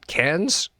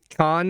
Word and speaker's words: Cannes: So, cans. Yeah. How do they pronounce it? Didn't we have a discussion about con is not pronounced con? Cannes Film Festival. Can.